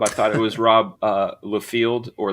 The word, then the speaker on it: Liefeld: was Rob Liefeld or Liefeld. I did not know it was Liefeld. I got Rob right. Like, I don't ever get why people get it right. It sounds it sounds exactly how it's spelled.